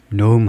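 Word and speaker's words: Noem: 축출 노음 발음은요음 발음하듯이 노음 하면 됩니다.에 노음을 축출한다.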